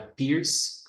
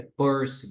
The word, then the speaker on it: Peirce: pur Charles Sanders pur que não é Pierce pronuncia-se é pers mesmo Charles Sanders per E